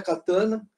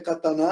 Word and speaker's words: katana: como katana né e não é katana a terminologia correta é catar na água acento tónico na última sílaba e se vocês olharem